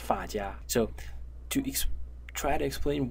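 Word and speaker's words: 发夹: But there is one thing which is called, I think, the hair clip, should be pronounced fa jia.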